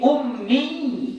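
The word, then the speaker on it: أُمِّيّ: Ini ummi pakai ya tasydid, ini artinya menurut sebahagian pendapat adalah yang tak bisa membaca dan tidak bisa menulis. Itu arti ummi pakai ya tasydid. Ummi itu artinya tidak bisa membaca, tidak bisa menulis. Kalau kita nggak baca tasydidnya, kita panjangkan saja ummi. Ummi itu artinya apa? Ibuku. Ya, artinya apa? Ibuku. Jauh artinya berubah. Ya, jadi makanya menghilangkan tasydid berarti dia mengubah makna.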